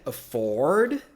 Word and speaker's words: afford: Perceberam que é afford, aqui, tá? Afford, igual o carro Ford, né?